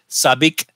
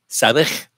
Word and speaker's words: Sabich: But DB82 from Dublin suggested, and I'm going to say this wrong. I found out that I'm going to say it wrong. Chris Sabik. Sabich, it's he suggested that and